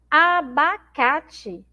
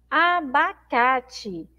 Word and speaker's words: abacate: exemplo na aula anterior abacate abacate Então a gente tem aí a palavra abacate que na última sílaba nesse Tim eu escrevo com é Tá mas eu leio com ih porque porque ele tem